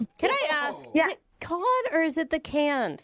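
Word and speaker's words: Cannes: Yeah, it's can.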